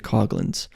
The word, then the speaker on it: Coughlin: I've gone to Tom coughlin's Wikipedia before and him and I actually have the same middle name too we're both Thomas Richard cogins so he's Coughlin I'm cogin but spelled the same and of course my